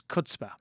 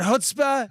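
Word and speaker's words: chutzpah: over there which i really liked which is cutspa and that is that isn't it oh is it hutzpah yeah that's what you actually all i don't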